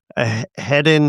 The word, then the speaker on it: Heddon: Is that how you would pronounce this? Heddon? Heddon. Yeah. I don't know how else to. Heddo. That's a really weird spelling. So yeah. Heddon, head on. No. It's not a head on, right? Heddon.